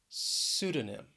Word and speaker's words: pseudonym: Then we have pseudonym. Pseudonym. The stress is on the first syllable this time.